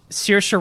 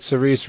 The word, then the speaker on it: Saoirse: Saoirse Ronan and Little Saoirse Woman. Ronan. Yes. I definitely butchered that.